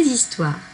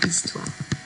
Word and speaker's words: histoire: devoir se retrouver dans histoire. Histoire est un mot que nous avons déjà vu dans d'autres dictées avec d'autres sons. Donc normalement, vous savez qu'il s'écrit avec un H que l'on n'entend pas.